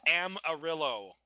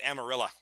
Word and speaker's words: Amarillo: It's Amarillo. Amarillo. Yeah. Or if you're from Texas, it's Amarilla.